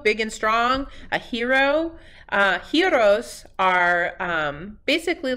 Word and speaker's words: gyros: is actually he so you want to say it almost like a hero big and strong a hero heroes are basically like Greek